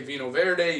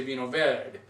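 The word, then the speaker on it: Vinho Verde: You don't say Vino Verde, you say Vino Verde. Well, you know, if you say Vino Verde, it's okay.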